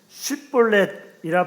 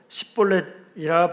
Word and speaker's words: 쉿볼렛: 6절 말씀에 그에게 이르기를 쉿볼렛이라 발음하라 하여 에브라임 사람이 그렇게 바로 말하지 못하고 십볼렛이라 발음하면 길르앗 사람이 곧 그를 잡아서 요단강 나루턱에서 죽였더라.